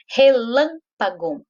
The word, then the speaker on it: relâmpago: Relâmpago. Relâmpago tem 4 sílabas. Mas qual é a sílaba mais forte?